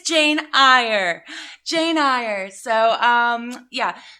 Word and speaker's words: Eyre: we are currently reading jane eyre jane ire actually it's jane eyre everyone else was wrong that told me that i was pronouncing it wrong because on twitter one